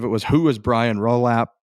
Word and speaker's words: Rolapp: was Who is Brian Rolap? Did I say his name right? Rolap? Is that right? As far as I know, you said it correctly.